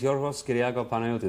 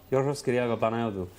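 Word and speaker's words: Yorgos Kyriacos Panayiotou: My name is Yorgos Kyriakou Panayotou. That's really how it's said. It's wonderful. Yorgos Kyriakou Panayotou.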